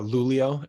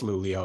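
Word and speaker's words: Luleå: were on Northeast we're in the Northeast uh lulio l-u-l-e-a you can look it up well it's pronounced lulio it's got a okay accent yeah it's lulia you can see where we are but east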